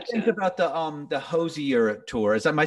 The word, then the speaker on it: Hozier: about the um the hosie europe tour is am i saying it correctly correct it's like cozier but with an h that's what he says